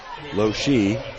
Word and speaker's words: Losch: will be linda losch lo she the e is pronounced apparently at least according to jamie and usually he's got that absolutely correct as lochie's free